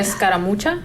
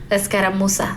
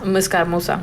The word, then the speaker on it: escaramuza: Because she said escaramucha? Escaramuza. Escaramuza. Sorry, I butchered that.